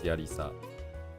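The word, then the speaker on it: ヤリサー: And so if you combine the two together, you get this thing, which is pronounced as yarisa. It sounds like a girl's name, but anyways.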